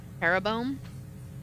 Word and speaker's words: Jeroboam: Jeroboam? Wait, how do you spell it? J-E-R what? It looks like arrow, but it's spelled with a J. So Jeroboam. Oh, why do I look